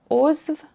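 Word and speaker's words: عضو: But ozv, member, I'm not really sure what's going on here, but it's pronounced as a v at the end.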